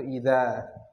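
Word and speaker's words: إذا: Jadi kalau ada seperti itu tanpa alif setelah za itu bacanya idh, artinya karena. Kalau ada alif setelahnya itu idza.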